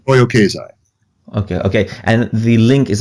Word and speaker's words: Toyo Keizai: Am I pronouncing that correctly? Toyo Keizai.